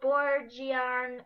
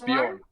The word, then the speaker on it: Bjorn: Although Borgian, I can't really pronounce it. Bjorn. It's Bjorn.